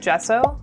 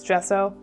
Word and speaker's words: gesso: I have liquid gesso um spelled g ss o, but I'm pretty sure I'm pronouncing it right with the soft g and that's what's used on all canvas actually to prep it for painting.